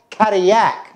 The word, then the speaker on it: Cadillac: Well, that name came from a French explorer who discovered Detroit, Le Sieur Antoine de la Mothe Cadillac, and that's how the French pronounce it.